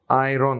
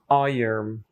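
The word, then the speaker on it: iron: এটার একচুয়াল উচ্চারণ হবে আইন সরি আইন আইন এটা অনেকটা ওই যে আমি উপার্জন করি এর ইংরেজি কি আইন মিলিয়ে দিলে হয় আইন ওই আমি উপার্জন করি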